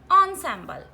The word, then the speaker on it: ensemble: Ensemble, the spelling starts with en, but the pronunciation of this word is ensemble.